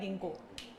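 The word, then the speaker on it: ginkgo: वैसे correct pronunciation होता है गिंको।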